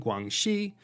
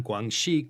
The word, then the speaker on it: Guangxi: and guangdong west circuits east is pronounced dong and west is she that's where we get guangdong and guangxi from this appalachian given